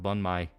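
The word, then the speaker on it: bánh mì: Banh mi is pronounced bun mai.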